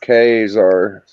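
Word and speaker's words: Ka-Zar: It actually shows how you pronounce it right here because it's a hard K and A. Yeah. I believe. And then it's Zar, K-Zar.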